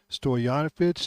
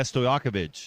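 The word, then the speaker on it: Stojaković: ability on offense is is high efficiency and Stoyanovich, is that how you say it? Yeah. Stoakovich.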